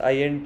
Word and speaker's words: INT: इसको हम through out the course INT he pronounce करेंगे, इंट प्रोनाउंस नहीं करेंगे, क्योंकि वो अनप्रोफेशनल साउंड करता है।